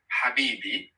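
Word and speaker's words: حبيبي: The sound we had in Habibi, which H is it? Is it the H like Raya? Habibi. Or is it the H like Fahim? Raya? Let me repeat it. Habibi. It's the one in Raya.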